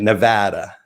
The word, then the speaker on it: Nevada: Did I say it right? Or it's Nevada, right? Oh, there was a whole thing on the internet about that. You're not saying it right. Nevada. What Nevada is doing, not Nevada or Florida.